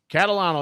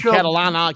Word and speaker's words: Catalano: I said your name right, Catalano, right? Definitely. Catalano, that's it. You're not a lot of people say it right the first time. You say it good, Mike. That's it. A lot of people call me Catalana, Catalina.